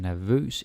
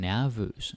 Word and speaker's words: nervøs: Now, some of you might feel like saying nervøs because you're thinking like nervous. But no, it's nervøs. Right? You want to put the stress on vøs.